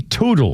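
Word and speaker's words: Teutul: Our birthday list includes Mikey Toodel or Tuttle. Mikey, it's called Tuttle.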